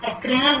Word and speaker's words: adrenal: Hypothalamus gland, pineal gland, pituitary gland, thyroid gland, parathyroid gland, thymus gland, pancreas, adrenal gland, gonal glands. इसको pronunciation ठीक करेंगे शीतल जी।